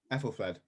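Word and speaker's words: Æthelflæd: Braden, I'm going to have to turn to you for the correct pronunciation of this name, I'm afraid. Ethelfled.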